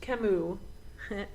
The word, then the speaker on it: Camus: And Piper is impressed that he has a book by Camus, which I literally had to write down that it was pronounced Camus, even though it's spelled Camus.